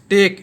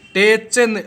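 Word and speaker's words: tech: ये च आ रहा है टीई सी एच टेक इसको टेक पढ़ते हैं टे च अगर टेच पढ़ते तो सेम हो जाता लेकिन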